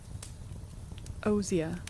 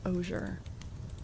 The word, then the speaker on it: osier: Osier. Oh, Americans pronounce it as osier. British pronunciation is osier.